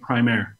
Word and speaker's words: Primare: so a while back it was determined that we would use the pronunciation of primary with the idea that it was a play on words with prime air kind of describing music the crime motion of